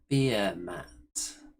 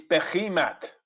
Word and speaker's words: Behemoth: Sons of Behemots. How very dare you! My pronunciation has been proven to be correct by